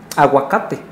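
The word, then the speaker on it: ahuacatl: Aguacate es una palabra de origen náhuatl que, digamos, ya está nativizada, quiere decir que ya se adaptó al español y se pronuncia aguacate. Pero en náhuatl se pronuncia aguacat, termina con TL. Porque el náhuatl tiene un sonido propio que es la TL, pero el español, como sonido propio, pues no lo tiene.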